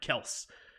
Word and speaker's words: Kelce: There's no E on the pronunciation of Kelce. Yeah, I know, Kels. Even though actually that's not true, because they do pronounce it Kelce, so they put that on their show.